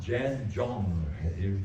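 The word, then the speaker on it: 站桩: Now the next one, if you look at it, it's pronounced Jan Zhong.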